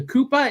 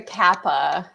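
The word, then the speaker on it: 河童: you were investigating the the koopa is that how you pronounce it like the kappa kappa kappa all right so we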